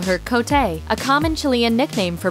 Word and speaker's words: Cote: of the kids at her school couldn't properly pronounce the 10-year-old dep Pablo's name so she asked that they instead call her cotay a common Chilean nickname for Maria Jose she